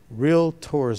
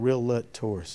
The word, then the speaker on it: realtors: county association of realtors real tours not real lut tours just so y'all know it's a it's a two syllable word not three we're touchy about that all